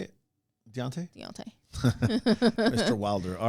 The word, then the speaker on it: Deontay: Deontay.